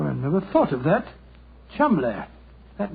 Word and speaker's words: Cholmondeley: Being an American, he had no reason to know that the name Chumley is in no way pronounced the way it is spelt. Well, I never thought of that. Chumley.